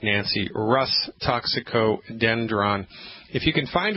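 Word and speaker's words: Rhus: medicine first I'll say it and then I'll spell it it's called Russ toxicodendron he spelled that are like Roger H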